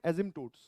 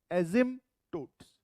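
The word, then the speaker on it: asymptotes: ठीक है, हाँ, पी इज साइलेंट, तो इसको हम क्या बोलते हैं? एजिम्पटोट्स, एजिम्पटोट्स, हाँ, पी नहीं बोला जाता।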